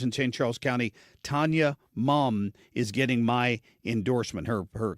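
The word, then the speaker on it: Muhm: Charles County, Tanya Mum is getting my endorsement.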